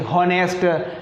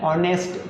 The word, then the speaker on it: honest: रहा है आपको आगे, इन शब्दों में जो एज का उच्चारण नहीं हो रहा है, HONEST, HONEST, हॉनेस्ट, HOUR, हावर, HEIR, हेयर, HONOUR, हॉनर, ऐसा नहीं है। ये क्या है, ऑनेस्ट, क्या है दोस्तों, ऑनेस्ट, एज को पढ़ रहे नहीं है, ऑनेस्ट, आवर, एयर,